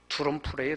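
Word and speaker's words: Drumpf: 자기 원래 할아버지가 독일에서 살았는데, 그 원래 독일 말로는 두럼프래요, 두럼프. 그 이제 미국 발음으로 트럼프.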